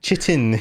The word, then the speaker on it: chitin: possibly one of the most mispronounced words on the Yeah, planet. it looks like chitin. Chitin, yes. Yes, but it's a chitin, which Yes.